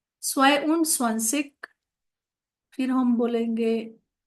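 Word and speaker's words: zwei: I know सोसिक मतलब 21 फिर हम 22 के लिए देखेंगे अभी टू मतलब क्या था स्वय था स्पेलिंग जेड डब्ल्यू ई आई स्वय ऊंड डालेंगे ऊंड मतलब एंड एंड का जो तरीका है वो 21 से शुरू होता है।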